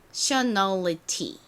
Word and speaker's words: nationality: 자, 그러면 요 뒷부분이 ALITY까지 더해주면 nationality 요렇게 바뀝니다. 그리고 여기서 하나 더 주의해 주셔야 될 점이 뭐냐면 원래 이 A의 발음이 A 소리가 나서 N과 합쳐지니까 nay가 됐잖아요.